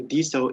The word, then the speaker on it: DeSo: my point of view, DSO is the right version of pronunciation because it's decentralized social. So it comes from decentralized, yeah? So D.